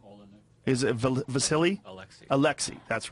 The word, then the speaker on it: Alexei: Alexei.